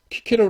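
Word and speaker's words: Cicero: 야 참고로 알아 두십시오 라틴어의 30 k 가 없어요 그래서 씨가 k 를 대신합니다 해서 그래서 여러분 얽히게 케롤 하고 있죠 로마 철학자 이거 스펠링이 러커 든요 근데 키케로 라고 일지 3 세로 라고 안 하잖아요 그래서 이게 바티 퀸이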